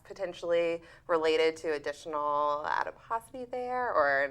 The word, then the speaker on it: adiposity: had brought up was this idea of abdominal adiposity. I think Correct. that's how you pronounce Correct.